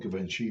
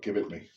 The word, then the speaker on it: Givenchy: it is I used to always call it Givenchy but it's not as a hit oh I can't remember my name right now but he used to call it give it me because you can pronounce it I don't know put some pre-shave